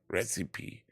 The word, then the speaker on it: Recipe: Recipe, so heißt es ja. Recipe. So wird es ausgesprochen.